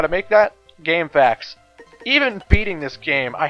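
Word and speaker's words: GameFAQs: goddamn game I know some people pronounce it game FAQs but I call it game facts so yeah [ __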